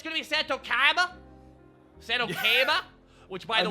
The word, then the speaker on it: Seto Kaiba: Seto Kaiba. That is correct pronunciation. Seto Kaiba.